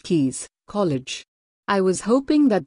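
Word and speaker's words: Caius: for a research fellowship at GaN Volyn Kees pronounced Kees College I was hoping that Jane would type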